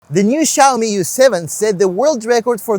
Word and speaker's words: YU7: Tell me U7 by the way is the correct way to pronounce it.